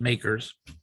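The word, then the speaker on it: MACRS: using a system called makers modified accelerated cost recovery system it's pronounced makers and it's not acceptable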